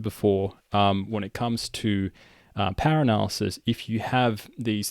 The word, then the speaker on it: pwr: And the first thing we're going to do is we're going to load the power package. It's spelled PWR.